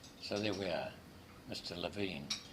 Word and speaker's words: Levin: Unlike the surname generally, which is Levin, it's pronounced Levin.